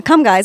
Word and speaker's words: Comegys: how do you say your last name I could gun to my head say last name pull the trigger how you doing uh come guys yeah it's always come guys I mean I